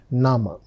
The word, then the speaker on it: Name: Look at the spelling. It's written just like English word name but the pronunciation is nama.